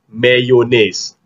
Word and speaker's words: mayonnaise: Because in English, this is pronounced as mayonnaise. Mayonnaise. Bukan mayonnaise, but mayonnaise. Mayonnaise. Ah, dia tak ada bunyi yeh tu. Bunyi yeh tu tak ada.